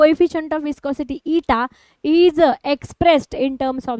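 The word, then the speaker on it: eta: ये वाला लाइन नीचे ड्रॉ करो इसको कैसे प्रोनाउंस करोगे ईटा ठीक है ये क्या है यह है विस्कोसिटी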